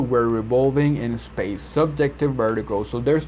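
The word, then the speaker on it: vértigo: All right, so moving on to number 9, vertigo, and Spanish is the same, vertigo, just with a accent on the E.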